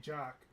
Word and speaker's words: Jacques: Best way I've seen people be able to pronounce it is to say Jacques. But say the J how you would say S in Vision.